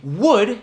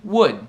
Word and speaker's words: would: W, algo assim, W, mas não se pronuncia o L e até o U. Tem a mesma pronúncia quanto a palavra madeira em inglês. Would, would.